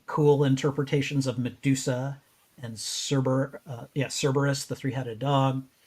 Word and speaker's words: Cerberus: We've seen very cool interpretations of Medusa and Cerberus, the three-headed dog. Kerberos. I Kerberos. Okay. And Greek does not have a soft C.